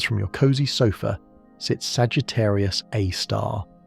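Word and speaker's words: Sagittarius A*: Case in point, at the centre of the Milky Way, roughly 26,000 light-years from your cozy sofa, sits Sagittarius A star, pronounced A star, a supermassive black hole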